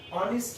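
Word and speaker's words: honest: যেমন Tamalika is অ্যান অনেস্ট girl, এখানে কি হলো, এইচ দিয়ে শুরু হলো কিন্তু এইচটা উচ্চারণ হলো না, অর্থাৎ অনুচ্চারিত এইচ, এইচের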